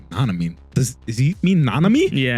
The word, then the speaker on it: Nanami: shouting, he shouts Nanomi, but he mispronounces his name. He goes like Nanamine. Like he puts like an N or something at the end of it.